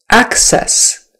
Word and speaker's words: access: accident also ah ah access access I need to access that file right away access so the syllable stress is on the first syllable access sometimes sometimes so